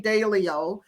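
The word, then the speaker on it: Dalio: I listened to um his name is Ray Dao uh and I probably pronounced his name wrong but a l IO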